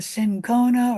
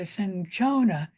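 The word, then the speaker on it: cinchona: from the bark of the sinona or the sinona tree both pronunciations are correct which was used to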